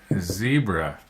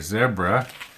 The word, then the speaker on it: zebra: Z as in zebra or zebra. Another one of those words that depends where you live is how you say it.